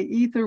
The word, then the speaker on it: aether: aether and western culture aether or ether as they say in the united states in the u.s they say ether without the a but physicists call it a third it's spelled with the a and that was removed